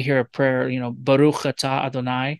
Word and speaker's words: Baruch: a prayer you know baruch blessed is the lord um and that's right it's a k sound at the end because the the word